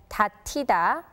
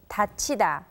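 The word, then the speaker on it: 닫히다: think the passive form would be read as tatita but the correct pronunciation is tachida it's time to close this edition of let's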